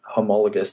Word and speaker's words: homologous: Well, the word is homologous. That's how I pronounce it.